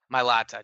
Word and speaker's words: Mailata: Mailata, Jordan Mailata.